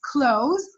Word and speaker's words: clothes: Also there is E, but we don't pronounce it. The first syllable is open, so it's clothes. Because of this E, we say clothes instead of cloth.